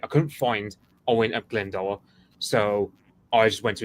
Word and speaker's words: Glendower: I've already pronounced Glyndor or Glendower. Glendower is the way I say it, but I don't pretend to speak native Welsh, so neither do I. So Glendower. What happens is the guy is a good.